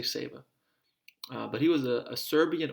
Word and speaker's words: Sava: feast day of saint saver maybe it's saint sava saber i think it's a long a we'll say seva but he was a